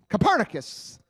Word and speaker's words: Copernicus: a witness out there I always mispronounce his name I should know better since I did graduate from college but corniest corniest somebody he Copernicus that's like Colin Kapernick right anyway well that